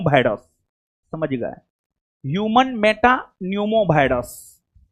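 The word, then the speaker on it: pneumo: Human Meta न्यूमो virus. हां हां हां हां ठीक हो नहीं जी यहां पर जो है ना नहीं सुनिए पी साइलेंट है ह्यूमन मेटा न्यूमो वायरस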